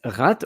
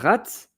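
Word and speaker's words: ratte: Dutch it's potato so rat variet the P so variant it's of it so it's a variety of potato r a t t e and the pronunciation is the same as rat voila uh and so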